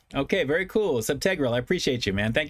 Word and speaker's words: subtegral: The tag is subtegral. It's pronounced teg, not teague. Okay, very cool. Subtegral.